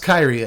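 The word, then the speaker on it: Kairi: kyrie swirling sky the the card is pronounced kyrie i hear it i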